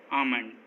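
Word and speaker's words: almond: एम से पहले, काम, बाम, पाम, आमंड, इन सभी वर्ड्स में एम से पहले एल आया है और एम से पहले एल हमेशा साइलेंट होता है।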